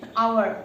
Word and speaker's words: hour: So third one is, this is most important, if there is a silent H at the beginning of a word. So jodi eta kisuman word thake where H is silent, jane hour.